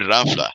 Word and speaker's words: ranfla: And one of the things, the Mexican, a lot of people mispronounce that word and they say ram with an M, ranfla. It's a mispronunciation.